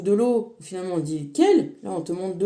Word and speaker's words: Quelle: Et l'eau en allemand, la source ça se dit quelle et ça s'écrit exactement quel comme nous on dit quel.